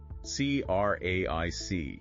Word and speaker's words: craic: It's spelled C-R-A-I-C, but it's pronounced craic.